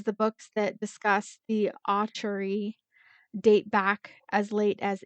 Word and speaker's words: Acheri: Okay, so today's episode we learn about a sad yet vengeful vengeful spirit known as the Acheri. Acheri. Say with me. Acheri. Acheri. So, I've been mispronouncing this for a while because I researched